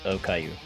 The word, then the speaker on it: okayu: And just for Essie's sake, the meal that she's eating is okayu. What? Yeah. It's what? Okayu. O-K-A-Y-U. We're talking about However the you children's pronounce show with the bald cancer patient.